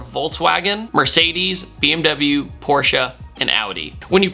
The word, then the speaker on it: Audi: from Germany are Volkswagen Mercedes BMW Porsche and Audi when you pronounce Audi by the way think of like an Audi belly button that's how you say it not Audi Audi the formula in the term Formula 1 just